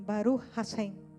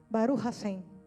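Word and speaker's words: ברוך השם: Eles dizem assim: Baru rashem. Já ouviram os judeus quando eles se cumprimentam? Baru rassem é uma pronúncia meio diferente porque arrasta um pouquinho.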